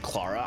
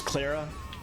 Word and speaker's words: Clara: Boy, I keep pronouncing her name Claraara. I'm sure it's Clara.